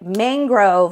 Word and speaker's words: mangrove: I was told it's like mangrove, like it rhymes with sang, mang and sang.